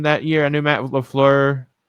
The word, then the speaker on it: LaFleur: I knew Matt LaFleur, right?